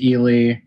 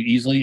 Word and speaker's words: Ealey: in the epilogue and say i mispronounced it at the end it is ely i apologize you know